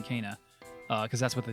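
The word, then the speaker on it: Kena: think we we were we kept saying uh kina bridge of spirits but it's it's cana canine cana is pronounced cana that is cana bridge of spirits the state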